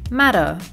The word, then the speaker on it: matter: In words like matter, the T sound is pronounced as a soft D. So instead of saying matter, Americans say matter.